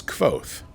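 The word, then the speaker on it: Kvothe: Official pronunciation is Kvoth.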